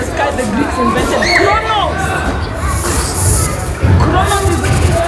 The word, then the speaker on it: Kronos: Kronos is pronounced as I'm saying it.